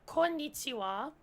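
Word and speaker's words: こんにちは: But konnichiwa is written, the wa is actually written using the ha hiragana, because that is actually a grammar particle where ha is pronounced as wa.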